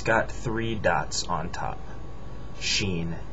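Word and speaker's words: شين: three dots on top Sheen it makes the Sha sound we also have that in English just not as one letter this is sod s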